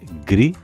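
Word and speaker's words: γκρι: Finalmente, tenemos los diptongos gamma kappa y gamma gamma, que se pronuncian de manera igual y parecida a g de gato, como por ejemplo en las palabras gri, que significa gris, y fegari, que significa luna.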